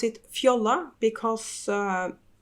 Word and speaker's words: Fjolla: and I pronounce it Fiola because uh it's called it's spelled f j-o-l-l-a and that's a Norwegian word and it's pronounced Fiola in Norwegian so that's where I